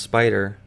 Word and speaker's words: SPDR: need to know is SPDR or how it's pronounced spider is a program used